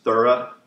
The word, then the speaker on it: Thoreau: Although I was told by a philosophy teacher it was Thorough was actually the pronunciation, but again, mainstream media has it all wrong.